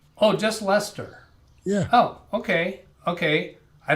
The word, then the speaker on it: Leicester: just lester we did the c in the middle is silent yeah okay that's that's